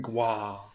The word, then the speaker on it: Goi: Either that or it's Gua. I'm not sure. It's Gua.